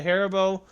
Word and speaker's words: Haribo: one's a pretty long one okay it is harabo how do you say how you how do you pronounce it back it's the harabo it's a Haribo one star Amazon revieww and it's a very